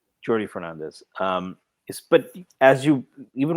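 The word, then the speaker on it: Jordi Fernández: Uh, I think it's Jordy. Oh, no. It's Jordy. It's Jordy. It's Jordy. It's uh Catalan, not Spanish. The J is pronounced Jordy Fernandez.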